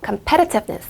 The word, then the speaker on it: competitiveness: 강세가 이게 생각보다 발음하기가 까다로워요. competitiveness. 여기 이음절에다 강세 주시면 되고요.